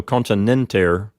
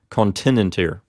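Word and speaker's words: continenter: the same result that the peanut here is long and gets the accent so continent air not continent here okay let's move on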